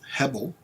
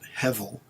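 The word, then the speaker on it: הבל: The Hebrew word is Hebel, or some people pronounce it Hevel, Hevel. The B is sometimes pronounced hard or soft with a V sound, depending on what the word is, and so forth.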